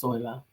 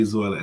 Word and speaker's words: Zoila: think she lives yeah it begins with Z but I think it's pronounced soila we always have that thing every time I say Zoella Esperanza You Gotta Give